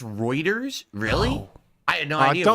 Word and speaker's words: Reuters: a large amount of it's pronounced Reuters really I had no